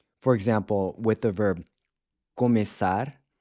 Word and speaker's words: começar: For example, with the verb começar, the E is pronounced with a closed E, but then it changes to an open E in the present tense forms below.